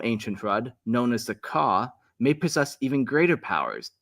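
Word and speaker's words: Qah: Some ancient Hrud, known as the Ka, may possess even greater powers, capable of wielding time warping abilities on a massive scale. And that's spelled Q-A-H, the Ka.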